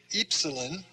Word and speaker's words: epsilon: like rt sounds like epsilon is the another e sound long e as in feet the fee is f